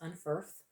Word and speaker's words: Unferth: Unferth and Beowulf and that is correctly helped pronounced Unferth to identify the hero characteristics revealed in Beowulf